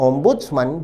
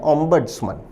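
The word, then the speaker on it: ombudsman: विद्यार्थी ध्यान दें शब्द का ब्रिटिश उच्चारण है ओम्ब्स्मन। जबकि अमेरिकी उच्चारण है ओम्ब्स्मन।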